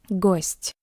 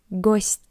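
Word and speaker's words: гость: Let's try to read this word ghost. As you can see, we have the soft sign after t. That's why it's soft. Ghost.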